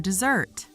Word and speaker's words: dessert: Dessert, the noun, is also pronounced .